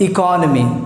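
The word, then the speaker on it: economy: लेकिन मैं आपको बताता हूँ इसका जो सही प्रोनाउंसिएशन है वो है इट्स कॉल्ड इकोनॉमी।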